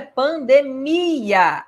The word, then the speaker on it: pandemia: Pessoal, a palavra é pandemia. A sílaba mais forte é o mi.